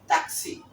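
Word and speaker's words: taxi: উদাহরণটা হচ্ছে তাক তাকসি উচ্চারণটা হবে ট্যাক্সি না হবে হলো তাকসি এরপরে সর্বশেষ যে বর্ণটি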